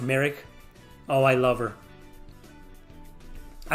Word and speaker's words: Morag: moraga moraga in india in the game morag but she's pronounced merrick oh i love her